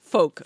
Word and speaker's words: folk: Folk. People don't use. They don't. We do know not pronounce the L. Okay. Folk.